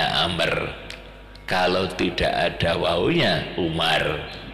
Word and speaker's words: Amr: Amr itu kalau ada wawunya bacaannya Amr, kalau tidak ada wawunya Umar, itu ya, lain.